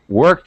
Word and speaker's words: worked: cleaned yeah all right worked I definitely heard the T sound and that that was